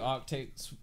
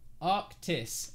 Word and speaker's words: Arctis: the 800 right now this is the new Arctic Arc how do you say it Arctic AR arctis arctis this is the new arctis it is